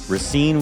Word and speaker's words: Racine: things so rine Wisconsin Ren was it's R Rasin nope we're going to say it right we're going to respect the people of this town rine Wisconsin was a beautiful